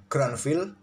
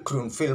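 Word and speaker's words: Grünfeld: Jangan protes kawan kalau admin membacanya Grandfield, lebih mudah seperti itu lidah admin menyebutnya. Walaupun salah mungkin pronounce-nya kawan, pengejaannya dalam bahasa asalnya mungkin bukan Grandfield, Grunfield mungkin.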